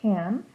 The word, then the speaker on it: can: middle of a sentence, the pronunciation sounds like can. You hear the C and you hear the N, but you don't really hear the A in the middle of the word.